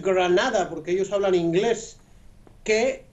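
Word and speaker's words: Grenada: Esa pregunta sería buena hacérsela, por ejemplo, a los habitantes de la isla de Granada, que hay que pronunciarla en inglés, Granada, porque ellos hablan inglés,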